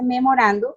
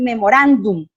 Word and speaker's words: memorándum: puedo escribirlo el memorando como es una palabra de origen la del que proviene del latín uno lo puede pronunciar de las dos maneras y se puede escribir de las dos maneras yo puedo escribir memorando o puedo escribir memorándum y de ambas maneras estaría bien escrito y bien pronunciado cualquiera de las dos